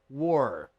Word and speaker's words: were: se pronuncia assim tá War puxa bem esse R paraa sua pronúncia ficar